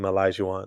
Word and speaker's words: Olajuwon: Sorry, Hakeem Olajuwon. That's how you pronounce it.